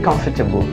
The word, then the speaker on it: comfortable: come feign I'm very comfortable I'm really comfortable comfortable looks perfectly fine to me unlike in veg'table that table becomes double here as will in